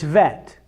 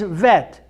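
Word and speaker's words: ב: still a bet but without a dot it's pronounced differently it's vet it's soft so a bet without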